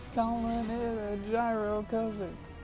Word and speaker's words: gyro: or a delicious sandwich mispronounced that's supposed to be pronounced hero but no one does I like calling it a gyro cuz it sounds cooler